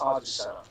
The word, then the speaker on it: Azucena: why I have right now it's Azucena.